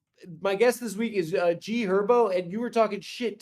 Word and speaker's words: G Herbo: I love G Herbo. It's also G Herbo. The H What is is silent, bro. What? The H is silent. It's G Herbo.